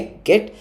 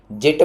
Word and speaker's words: Git: जिट मत बोलना, बहुत लोग जिट बोल रहे होते हैं, गिट ही प्रोनाउंसिएशन है इसकी।